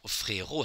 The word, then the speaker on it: frérot: And if you turn from frère to frérot, frérot has two syllables.